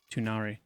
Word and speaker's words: Tunare: I said Tunair, but I changed my mind, and it's now Tunari. Tunari.